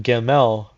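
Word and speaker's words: gimel: to this path and when pronounced pronounced gaml means a camel the camel is the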